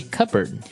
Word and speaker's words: cupboard: Okay, so you might want to say cupboard because it's cup, C-U-P-B-O-A-R-D. That's not right. The word is pronounced cupboard. Okay, so even though it may seem like you should pronounce cupboard, the correct pronunciation is cupboard.